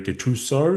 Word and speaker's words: Gattuso: Ryan Hassan here, joined by Gattuso. Am I pronouncing that correctly?